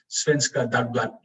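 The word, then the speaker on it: Svenska Dagbladet: Svenska Dagblad is what I've been told it's pronounced as.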